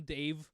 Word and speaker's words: Dev: I'm so glad I saw the name Dev spelt out DEV, because they kept being like Brahm Dave. Oh yeah, no, they pronounce it Dave.